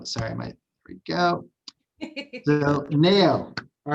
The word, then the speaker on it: Nayo: It's Nayo. I know everybody does. It looks like Mayo, pronounce it Nayo.